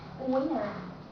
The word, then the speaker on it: winner: know and the left when the let te goes with M it means when n and T goes together then you don't have to pronounce the sound to you link these two together and say winner internet International once more International internet